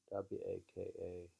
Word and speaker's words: waka: poetry in Japanese literature, and this form, waka, W-A-K-A, waka, consisted of 31 syllables divided into 5 sections of 5-7, 5-7-7.